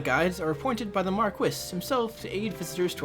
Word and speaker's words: Marquis: game I know normally in common speech it's pronounced Marquis but I did some research and actually Marquess is the official English pronunciation for Marquis it's